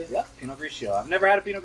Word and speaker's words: Pinot Grigio: Yeah, Pinot Grigio.